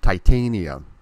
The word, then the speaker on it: Titania: It's pronounced Titania.